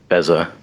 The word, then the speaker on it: Beza: I just say Beza everywhere. Makes no sense.